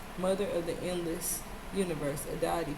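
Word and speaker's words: Aditi: Mother of the endless universe, a deity, pronounced a deity, is a primordial Hindu goddess who appears often in the Vedas.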